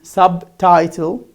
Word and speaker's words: subtitle: But here, it's at the beginning of the word, obtain, subtitle, the first syllables in the middle almost. Okay, here it becomes, you pronounce it.